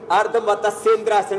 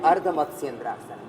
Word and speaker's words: अर्धमत्स्येंद्रासन: हो गया है अर्न कुछ लोग ऐसे अर्ध मत सद्रास बोलते हैं ये ठीक इसका उच्चारण नहीं है सही है अर्धमत्स्येंद्रासन मत सद्रास जी स्वामी